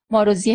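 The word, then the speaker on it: Maróczy: اما این تلفظ صحیح اسمش ماروزی هست.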